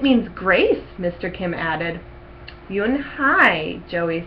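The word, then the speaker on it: Unhei: "Yes, it's pronounced Yoon-hae." "And it means grace," Mr. Kim added. "Yoon-hae," Joey said slowly, and this time perfectly.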